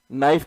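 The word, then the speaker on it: knife: कभी नाइफ के अंदर के साइलेंट कर देंगे, बोलते नाइफ है और के को साइलेंट कर देते हैं।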